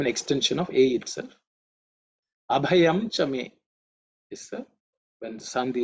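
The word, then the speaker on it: अभयम्: In terms of pronunciation, the bha, the second letter, is aspirated because it's the fourth letter in the pa varga.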